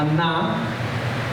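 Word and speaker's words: עָנָה: de la palabra aná se escribe como el nombre Ana pero acento en la última a aná del hebreo que también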